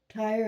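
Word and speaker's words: Tyre: coming across but um Ty the city had narrow inlets islands off the coast it's in the Mediterranean right of course I hope you got that tire is spelled Ty e it's a city that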